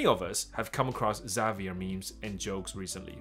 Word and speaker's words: Xavier: 他名字发音应该是 Xavier 没有错，什么查维尔之类的。And why are his memes exploding across social media？